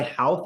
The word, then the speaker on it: Howth: So this guy Houth, this doctor is in his house. And his name is spelled Howth, and the water's up to the second floor.